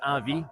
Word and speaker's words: Envi: So, how is Envi or uh pronounced in French? It's avi. Avi, but pronounced it in English. Envy is fine.